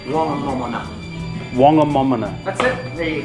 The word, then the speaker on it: Whangamomona: Whangamomona. The Taranaki Maoris didn't pronounce WH as F, it was just what. So it's Whangamomona.